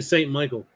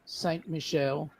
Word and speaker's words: Saint Michel: I'm the only St. Michael. Yeah. Excuse me, pronounce it properly. Saint Michel.